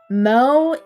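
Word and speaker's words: 萌え: Mo pronounced like moa means something cute or adorable.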